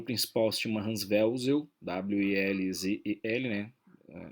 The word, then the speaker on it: Welzel: O seu autor principal se chama Hans Welzel, W-E-L-Z-E-L, né? Welzel, na pronúncia correta do alemão.